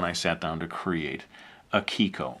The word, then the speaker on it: Akiko: And that's how, when I sat down to create Akiko, or Akiko, as I pronounce it. It's a Japanese name.